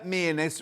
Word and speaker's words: Mearness: Mearness rhymes with sheerness.